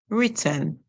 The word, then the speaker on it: written: word so let's go the W makes this is silent the r makes the song we hear R it R it WR and 10 written so w r in